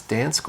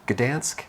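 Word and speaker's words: Gdańsk: I've been to uh I don't know if it's Dansk or Gdansk. I I've heard it pronounced both ways so I'll say Gdansk.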